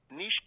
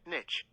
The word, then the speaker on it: niche: supposed to pronounce niche there are two common pronunciation variants both of which are currently considered correct niche and niche which is the more common one and the older of the two pronunciations oh wow niche